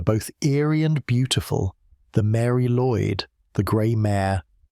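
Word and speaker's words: Mari Lwyd: At its front moved a figure both eerie and beautiful, the Mary Lloyd, the grey mare. The name pronounced roughly Mari Luid has been part of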